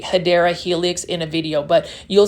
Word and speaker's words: Hedera helix: or what you call, the correct way to say it is actually Hedera helix or English ivy.